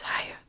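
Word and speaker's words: Haigha: His name is Ha. He pronounced it so as to rhyme with mayor.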